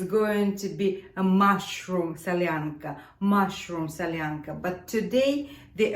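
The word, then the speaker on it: солянка: we will be making Sasha's favorite soup let's pronounce the name of this soup salyanca salyanca salyanca there are a few types of salanka few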